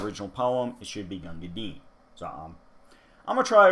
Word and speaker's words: Gunga Din: should not be pronounced gangadin as it's intended to rhyme with the word green but we all know